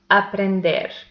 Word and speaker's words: aprender: The next example is aprender. It has also three syllables and the last one is the stressed one.